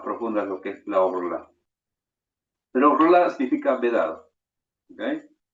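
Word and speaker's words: ערלה: Orla se pronuncia.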